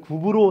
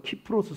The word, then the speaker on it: 키프로스: 어디에요 키프로스 솜 이에요 우리가 우리 약 개역개정 성경에는 구브로 섬 이렇게 나와있는데 원래 정확한 발음 키프로스 섬 입니다 이 키프로스 섭의 위치를